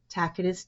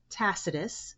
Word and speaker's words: Tacitus: Tacitus with an S sound and tacitus with a K sound. Both stress the first syllable.